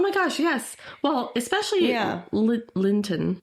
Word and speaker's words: Linton: Well, especially Linton. Did I say it wrong? Did I say Limpton? Like the tea? Yeah, but I thought you said Limpton. Yeah, but his name is Linton.